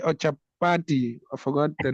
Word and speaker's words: chapati: Is it pachati or chapati. I forgot the name. Pachati ki jai. Yes, How do Prabhu. you pronounce it, bro?